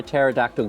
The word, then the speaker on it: pterodactyl: can't you hear a pterodactyl go to the toilet because of te is silent because the p is silent how do you spell